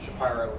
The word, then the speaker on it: Shapiro: Shapiro is the Philadelphia pronunciation.